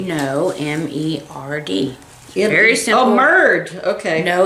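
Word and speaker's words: merde: Oh, merd. Okay. No, it's merd. That's not how I would pronounce it.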